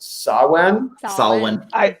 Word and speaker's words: Samhain: a gaelic sorcerer and she informed me that that's pronounced sawwan i just learned that